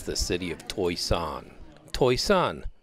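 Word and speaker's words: Toisan: city of TOI song TOI Sun not pronounced like it's spelled toys on is like where the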